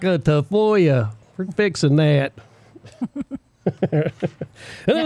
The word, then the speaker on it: Tafoya: Your last name's Tafoya, and they're like, Tafoya? Like what? It's phonetically correct. It was actually anglicized.